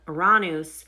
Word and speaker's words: Uranus: Because we have Aranus and that is the proper way to say it.